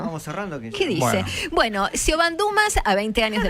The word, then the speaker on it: Siobhan: Siobhan, sí, que en realidad me parece que la Nata lo pronunció mejor que nosotros, que es Siobhan, porque es el femenino de John, pero Sean.